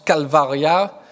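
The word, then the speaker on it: calvaria: lieu du crâne donc de crâne en latin se prononcent calvar ya donc voilà calvet au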